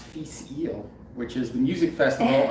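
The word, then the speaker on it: Fèis Ìle: i'm horribly pronouncing but this is now i know pronounced feast eel which is the music festival unfortunately they did not have in scotland this year it's 53.3 percent um 1997.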